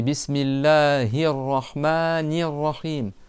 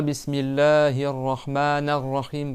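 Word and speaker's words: بسم الله الرحمن الرحيم: Alors, une erreur que beaucoup ils font, c'est qu'il prononcent mal les voyelles de fin de mots. C'est bismillahahmanirrahim. C'est pas bismillahirahmanahim. Par exemple, il mett au lieu de ni.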